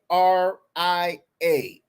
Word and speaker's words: Pueraria: So can you it's spell it? spelled Pueraria. Second word, Mirifica. Pueraria.